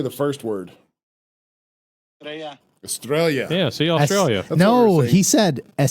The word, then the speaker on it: Estrella: Estrella.